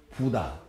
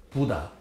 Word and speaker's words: 붓다: 영어식으로 발음하면은 붓다, 사캬모니. 근데 이제 우리식으로 발음하면 부다. 또 좀 세게 부다.